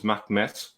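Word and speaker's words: Mehmet: the first few centuries, they never called him Muhammad, they called him Mahmed or Mahmet. Most commonly, the number one name was Mahmet with a T at the end. That's very Ottoman in pronunciation.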